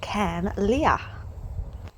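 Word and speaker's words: Carn Liath: I was excited to come across my first cairn, and even more excited when I learned the pronunciation of this is actually Cairn Leah.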